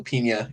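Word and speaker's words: Peña: He's deader than Michael Pena in Fury.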